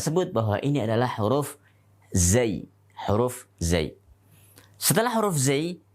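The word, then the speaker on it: زاي: Kalau kita mengeja di dalam bahasa Arab namanya zayun. Zayun. Yaitu huruf zai. Ingat, seringkali ini diucapkan dengan nama huruf za. Za adalah harokat untuk zai.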